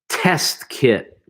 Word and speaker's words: test kit: good, okay, test kit, Test kit. okay, test kit, Test kit. yeah, try not to pronounce I mean, you have to say the T, the second T in test, but test kit, Test kit.